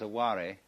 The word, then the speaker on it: aware: Mind of a no mind man there is a warry when the snipe leaves the marsh on an